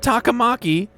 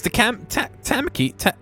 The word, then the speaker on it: Takamaki: She said Takamaki. The other guy says Takamaki. Takamaki. I didn't know at all. Right? She did. She said Takamaki-san. I'm saying it right.